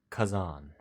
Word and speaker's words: Khazan: Above the door is the word Kazan, spelled Khazan.